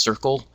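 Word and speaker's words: CERCLL: in culture language and literacy the acronym is pronounced Circle uh she comes to us from the University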